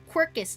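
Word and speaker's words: Quercus: Excuse me, Quirkus.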